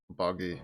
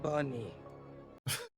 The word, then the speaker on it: Buggy: Buggy. Bunny. Gets his name wrong again. It's Buggy! Like, I said that.